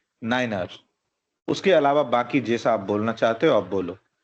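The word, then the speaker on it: niner: 9 को कभी भी 9 नहीं पढ़ना है, 9 को हमेशा पढ़ना है नाइनर। उसके अलावा बाकी जैसा आप बोलना चाहते हो आप बोलो, सिर्फ 9 को नाइनर बोलना है।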